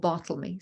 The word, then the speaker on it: Bartholomew: his servant, who's called Bartlemy, spelt Bartholomew, but apparently pronounced Bartlemy back in the day.